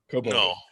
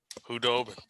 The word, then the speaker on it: Khudobin: Hoboden. No. Hudobin. No. Hudobin. It's the D before the B.